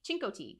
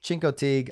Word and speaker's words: Chincoteague: know i i have no idea how to pronounce this uh chinko fatigue chincoteague chincoteague island there you go chincote yeah there we